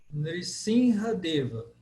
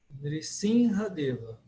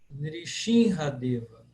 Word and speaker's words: Nrisimhadeva: Hoje, na Índia, especialmente na Bengala, eles falam S como X.